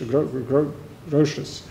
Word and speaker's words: Grotius: It's very much visible in Grotius, or how do you pronounce that in English? Grotius.